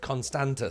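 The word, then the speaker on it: Constanța: Constanta? I need to learn how to say it. Constanta, sorry.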